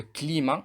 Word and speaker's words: climat: achat, ou bien le climat. Regardez ici, le T ne se prononce pas.